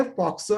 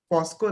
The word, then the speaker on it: पॉक्सो: काही पॉस्को म्हणतात, काही पॉक्सो म्हणतात. तर खरं नाही पॉक्सो आहे, पॉस्को नाही. बऱ्याच वेळेला पॉस्को ऍक्ट म्हटलं जातं.